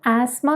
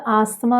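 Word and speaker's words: asthma: അപ്പോൾ ആസ്മ എന്നാണ് പറയുന്നത്. ബ്രിട്ടീഷ് ഇംഗ്ലീഷിൽ ആസ്മ എന്നും അമേരിക്കൻ ഇംഗ്ലീഷ് ആണെങ്കിൽ ആസ്മ എന്നുമായിരിക്കും പറയുന്നത്. അപ്പോൾ ഇങ്ങനെ തന്നെ പറയണമെന്ന് നിർബന്ധമൊന്നുമില്ല. ഇപ്പോൾ നമ്മൾ ആസ്തമ എന്ന് പറഞ്ഞാൽ ആളുകൾക്ക് മനസ്സിലാവുമായിരിക്കും, പക്ഷെ നമ്മൾ ഇംഗ്ലീഷ് സംസാരിക്കുമ്പോൾ അതിൻ്റെ ഉച്ചാരണം കഴിയുന്നത്ര ശരിയാക്കി പോയാൽ നമ്മുടെ കോൺഫിഡൻസ് കുറച്ചുകൂടെ കൂടും.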